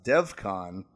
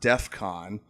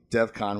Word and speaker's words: Devcon: Devcon, which interesting. Not even a point of contention originally. It was assumed the pronunciation of his name isn't great in the episode, and most heard Defcon, which makes sense.